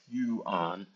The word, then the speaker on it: yuan: And finally, just with China, uh the one yuan, actually, I looked it up how to say it the other day. you on apparently. Well, at least according to Google it is.